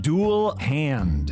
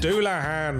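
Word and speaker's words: Dullahan: It's pronounced ein hairyar. Say tires? It's satyrs. Okay, I think I got this one. Dual hand. Doulahan.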